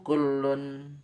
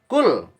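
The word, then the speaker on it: كُلّ: Hawaja, Allah yuhawija, tidak menjadikan butuh rafiqahu, saudaranya, temannya, ila ayyakula lahu kullun. Kul, bukan kullun. Ila ayyakula lahu kul.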